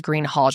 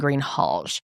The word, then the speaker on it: Greenhalgh: I think she pronounced it as Greenhal. I have listened to her pronounce it over and over and over and I'm pretty sure that she is saying Greenhal.